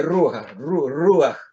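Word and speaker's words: רוּחַ: Aquí aparece, se pronuncia Ruach, Ruach.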